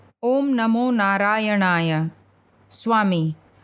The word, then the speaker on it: Narayanaya: Om Namo Narayanaya. Swami. Pronounce the last syllable of the second word in a high pitch, brother, in the Rishikesh fashion.